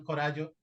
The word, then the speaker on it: Coraggio: Y hoy tenemos el honor de recibir a un invitado muy especial que es José Luis Corallo. Pido a Dios que la pronunciación Corallo esté correcto.